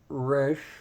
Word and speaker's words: Resh: we find the letter Rush notice that it's pronounced Resh r-e-s-h in English and here is the Hebrew